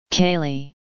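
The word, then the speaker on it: ceilidh: teletext service provided by the bbc representing a pronunciation of seeing and facsimile kaylee spelling c e i l i d h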